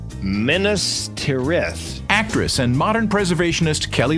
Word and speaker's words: Minas Tirith: Look no further than, and I had to look up the pronunciation, Minas Tirith.